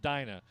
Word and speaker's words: Dina: modified go go go she says my name is pronounced Dina you should have put